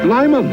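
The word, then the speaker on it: Lymon: Pronounced Lyman as in great lon taste.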